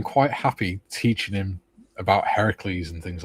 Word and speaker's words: Heracles: Well, Hercules was chosen because it's easy to say, and isn't it the Roman pronunciation of it, Gary? I suspect it is, yeah. Heracles is definitely Greek. Yeah. And since it's Greek mythology, it should be Heracles.